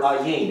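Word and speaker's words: עין: see that word i it's the hebrew word ayin the hebrew word ayin it's pronounced this way i'll just put it up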